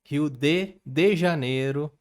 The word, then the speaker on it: Rio de Janeiro: that's right it's pronounced rio de janeiro not rio de janeiro get it right we're not in mexico this is portuguese not spanish this one wait a